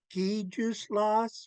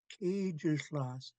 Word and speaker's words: Kijuslas: Some people think her name is pronounced Gijuslas with a G, but yeah, that's not it. It has to be a loaded K. Gijuslas.